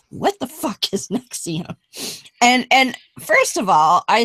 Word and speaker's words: NXIVM: of the show says, what the fuck is Nex-e-um? And first of all, I said to Beth, how do they, because this is spelled Nxivm, but in capitals, so it kind of looks like Roman numerals.